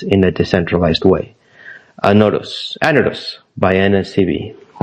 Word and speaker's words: Anodos: Am I correct this time around? Panos. Anodus. I got it right this time, I think. Yes, you're correct. Yeah, it's Anadus. Is it accent on the A? A accent on the A. That's right. Yes. On the first day.